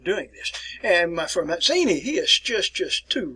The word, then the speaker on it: Mazzini: pronounce it pizza so if you see the two italian letters here z and z it is pronounced as t so hence we get the pronunciation here giuseppe matzini i'm here my friends